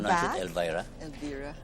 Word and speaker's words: Elvira: Is that Welcome how you pronounce back. it, Elvira? Elvira. Elvira.